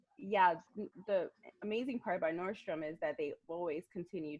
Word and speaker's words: Nordstrom: uh how did the connections between you and nostradam uh come about inertia Dom oh I I